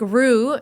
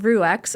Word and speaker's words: Rue: And I'm like, "It's not Rux or Rux," right? It's I always thought it was like Rue like kangaroo.